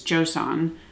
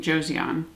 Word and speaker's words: Joseon: from beauty of Joan I'm trying to say it properly I believe it's Joan I've been saying Josan so we'll say the proper pronunciation but this is their